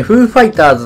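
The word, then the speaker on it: フー・ファイターズ: いや、ちょっと。FF。FF って書いてね、フーファイターズって読むんですけ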